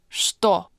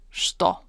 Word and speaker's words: что: In this word, this ch actually doesn't sound like ch at all. It's pronounced sh, as in что.